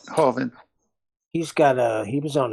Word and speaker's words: Hovind: So I heard Kent Hovine's got Ken Hovine, is that how you say his name? Hovind.